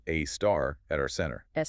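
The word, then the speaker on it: Sagittarius A*: We have Sagittarius A, pronounced a star, at our center, s about 4 million times the mass of the sun, right?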